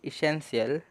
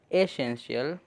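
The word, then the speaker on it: essential: इसमें ज़्यादातर लोग बोलते हैं इसे इसेंशियल, लेकिन ई नहीं, यहाँ पे ए आता है, ए प्रोनाउंस होता है यहाँ पे जो ई है। तो एसेंशियल। तो पहले तो ए हो गया। फिर जो डबल एस है उसमें से सिर्फ एक एस की साउंड आएगी और दूसरा एस साइलेंट रहेगा।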